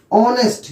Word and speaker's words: honest: Okay, ऑनेस्ट, देखिए HONEST, यहां H silent है, O से स्टार्ट करते हैं, ऑनेस्ट।